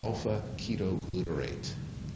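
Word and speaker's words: alpha-ketoglutarate: rolls off the tongue I'll pronounce it for you so that when you use it uh in Social set you won't you know mispronounce it that's Alpha the little squiggle at the beginning is the Greek letter Alpha that's Alpha ketoglutarate got a nice roll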